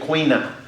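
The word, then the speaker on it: caoineadh: but the idea of Queen up which is the way it's pronounced in the Irish version of Gaelic which also translates as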